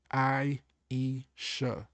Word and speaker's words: Aisha: So, it says here, "Aisha, pronounced I-E-sha, is an AI chat assistant built from the ground up to better serve the people mainstream AI has failed.